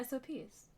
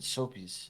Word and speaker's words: SOPs: But yeah, SOPs, not soap. Yeah, SOP. No, not not so SOP. You say it like that. SOPs. No, the first time you said soapies.